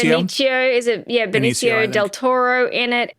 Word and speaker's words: Benicio: Oh, Benicio? Benicio, is it? Yeah, Benicio, Benicio del Toro in it.